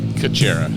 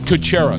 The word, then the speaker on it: Kucera: Catera. Coachera. See, I would have butchered that.